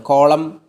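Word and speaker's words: column: അവസാനം ഒരു വേർഡിൻ്റെ അവസാനം എം എൻ എന്ന കോമ്പിനേഷൻ വരുമ്പം അവിടെ ന സൗണ്ട് സൈലൻ്റ് ആവുകയാണ്. കോളം, condom, സോളം.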